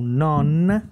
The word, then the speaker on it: non: têm no italiano não então non é non esse n ele fica ali querendo uma vogal quando tem o e na frente no né ele vai conectar na fala tá na escrita